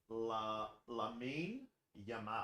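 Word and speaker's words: Lamine Yamal: the boot into him it's pronounced Lain yamal oh from Barcelona lamin yamal yeah he's a freak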